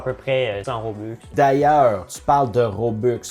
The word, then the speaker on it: Robux: Roblux ou Robux? Robux. Les Robux, ça c'est une niaiserie que certaines personnes disent. Fait que c'est R-O-B-U-X. Comme box en anglais pour argent.